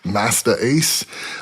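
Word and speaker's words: Masta Ace: And uh he was famous for promoting other acts like Big Daddy Kain and Masta. I'm saying it that way because it's spelled M A S T Ace. Master Ace.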